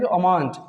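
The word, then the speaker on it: almond: क्योंकि एम से पहले एल आया है तो एल साइलेंट होता है। इसको अमांड, क्या पढ़ते हैं? अमांड, लेकिन आलमंड लोग बोलते हैं, बादाम, है ना, लेकिन आपको ऐसे गलत नहीं करना है, नहीं पढ़ना है।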